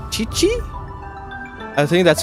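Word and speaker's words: Qiqi: All right, and the next one is Chichi. I think that's how I pronounce her name. She's a cryo character. I am Chi-Chi.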